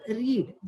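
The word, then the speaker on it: read: example रीड जसं की रीड हा जो शब्द आहे प्रोनाऊन्स रीड अँड रेड तर ह्याला आपण रीड हे तर म्हणतोच पण जेव्हा हे पास्ट टेन्स मध्ये होऊन जातं तेव्हा याला आपण रेड सुद्धा म्हणतो तर अशा प्रकारचे शब्द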